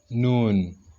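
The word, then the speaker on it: نون: So when you are transliterating noon, you want to pronounce it, make sure you pronounce purely like that, noon.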